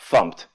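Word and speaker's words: fmt: to the program here we're importing funked it's pronounced pumped for reasons and the idea is pumped contains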